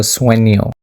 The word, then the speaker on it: sueño: Let's just imagine that snake mark as letter Y. Because the way we actually pronounce it is tengo sueño.